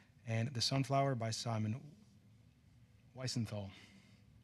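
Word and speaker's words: Wiesenthal: Is there a comment and maybe a correct pronunciation? Dr. Lavin, I have a question. Orthinthal. Visenthal.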